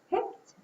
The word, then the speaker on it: picked: an ID or D picked would go under T we hear a t sound at the end of that what about pray pray